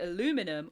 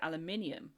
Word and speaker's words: aluminium: Aluminium is the correct way of pronouncing it and it's the correct way of pronouncing it with that spelling. Whereas I think Americans actually spell it with one less I which also controversially means that it's correct for their pron pronunciation as well.